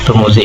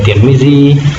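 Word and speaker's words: Tirmidhi: Turmuzi ini boleh dibaca Turmuzi, boleh Tirmizi, atau Tarmuzi. Jadi 3 cara membacanya.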